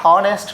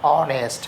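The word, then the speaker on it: honest: তাহলে পরের সেন্টেন্সে আমরা যেতে পারি রহমান ইজ, এটা হনেস্ট নয়, এটা অনেস্ট ম্যান, তাহলে উচ্চারণ কিন্তু এখান থেকে এইচ এর উচ্চারণটা কিন্তু উজ্জ্বল হয়ে গেছে। তাহলে ওই উচ্চারণটা হচ্ছেই না।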